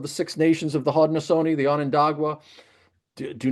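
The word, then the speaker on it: Haudenosaunee: now who actually prefer to be called the Hodnosone, which is their their their true name. Just trying to figure out how to pronounce that. So, thank you for Yes. Hodnosone.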